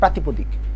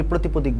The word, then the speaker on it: প্রাতিপদিক: উদ্যম হচ্ছে বিভক্তিহীন নাম শব্দ, অর্থাৎ প্রাতিপদিক। এটা তাহলে কি প্রাতিপদিক? প্রাতিপদিক বানান এবং উচ্চারণটা কিন্তু ভালো করে দেখবা, অনেকেই প্রতিপদিক বলে, সেটা কিন্তু হবে না, প্রাতিপদিক।